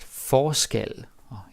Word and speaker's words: forskel: Now the pronunciation is also different, right? Forskel, forskellig, different stress.